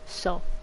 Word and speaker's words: Seo: korean last names so the seo is not really pronounced sayo but it's actually pronounced so makes sense because what's